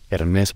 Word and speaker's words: Hermès: o no por cierto se pronuncia ernest por el acento ni nada así y si tiene curiosidad